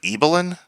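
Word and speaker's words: Ibelin: the remarkable life of apparently people pronounce it eelin I've been saying iin this whole time uh I hope iin isn't an insulting pronunciation because I like that pronunciation better than eelin number three sugarcane number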